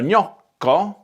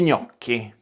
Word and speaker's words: gnocchi: And the same thing happens with GN, pronounced gna. Lo gnocco, I'm not taking them out of the packet. Gli gnocchi.